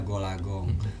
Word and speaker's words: Gol A Gong: tua orang tua memberi Nama saya gold Agung tulisannya dibacanya goolagong Bapak memberi nama gol-gol